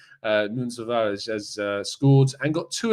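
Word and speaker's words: Tavares: england's under 20s and nuno tavare or nunes uh as we should pronounce him correctly uh nunza has scored and got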